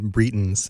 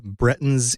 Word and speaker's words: Bretons: to become the bretons I apologize again for pronouncing it brightens it just there's something about the way that the word looks and also the separation in my own brain for the brettons in our world versus the bretons in a fantasy world and for some reason I pronounce it differently but we'll say bretton's